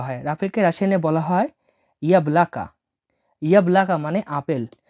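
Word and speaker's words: яблоко: আপেলকে রাশিয়ানে বলা হয় ইয়াবলাকা। ইয়াবলাকা মানে আপেল। দেখুন আমি এখানে রাশিয়ানটা ভেঙে দিচ্ছি। এটা হলো ওয়াই, এটা বলা হয় ইয়া, এটা বলা হয় বি এল এ কে এ, ইয়াবলাকা।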